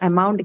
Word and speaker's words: amount: Ideally, it should be first, but we mark on the second because of the presence of the unstressed vowel.